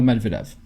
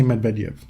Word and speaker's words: Medvedev: No, I don't remember where, because he pronounces the E differently on one of the syllables, and I can't remember which one. It's like a Y. Yes, but do you know which syllable it's on? Medvedev.